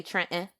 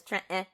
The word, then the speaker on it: Trenton: Jersey uh in in in Philly we say Trenton right we leave the tea out and it's Trenton so she grew up